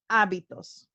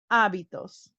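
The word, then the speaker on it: hábitos: habits in spanish are abitos remember the h is silent in spanish abitos so these are getting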